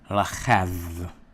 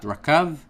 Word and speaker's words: rachav: So we have the word, again, rachav, okay? And it's this kaf here, you will pronounce it cha, so rachav. Rachav. Not rakav, but rachav. Okay, so from this verb, you're able to get other words.